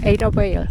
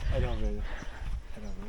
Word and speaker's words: Adavale: Adavale. How do you pronounce that? Adavale.